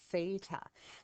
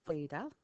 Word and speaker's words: Theta: and we pronounce that Theta now Theta is actually a Greek letter okay so it's actually pronounced Theta and as I said